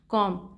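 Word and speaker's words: comb: हम बोलते हैं ना कॉम उसमें भी बी होता है एम के बाद बी आता है लेकिन बी साइलेंट होता है हम उसे क्या पढ़ेंगे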